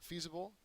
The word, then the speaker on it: feasible: astronaut's costume and uh feasible goes along with this picture here it's an adjective first syllable is accented it means possible or